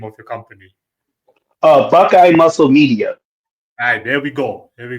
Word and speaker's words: Buckeye Muscle Media: Do you want to pronounce the name of your company? Uh Buckeye Muscle Media.